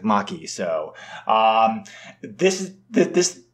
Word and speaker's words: Make: M A ke but I'm assuming Japanese it's actually pronounced like Maki so um this is